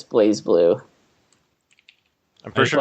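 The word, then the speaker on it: BlazBlue: think I think the I think the Ingress pronunciation which is what you get for a lot of the a lot of the the voice acting in the game for like for like names of characters and whatnot is I think it's I think it's pronounced Blas Blue by the the English commentator but I think it's supposed to be Blaze flu either way they should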